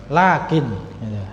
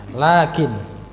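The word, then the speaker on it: لكن: Apa iya fathahnya berdiri seperti Alif nah ini Jadi bacanya panjang apa pendek panjang lakin lakin jadi tidak pendek lakin bu tapi lakin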